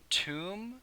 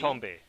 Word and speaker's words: Tombe: I believe it was Trevor Toom, economist from U of C. Tombe.